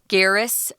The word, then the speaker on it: Garris: Kaylee Kaylee either's fine Garrus is it's like Harris but with the G she was young so